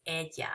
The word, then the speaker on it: ella: Remembering that ella is pronounced ella and we don't say the L.